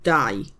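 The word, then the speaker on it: dau: Die.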